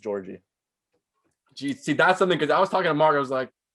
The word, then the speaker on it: Jaurji: It's super simple. It's just Jaurji. Jaurji? Yeah. That's easier than the other ways we're discussing. Everyone's like Jaurji, because it's spelled weird. Jaurji. It's literally just Jaurji.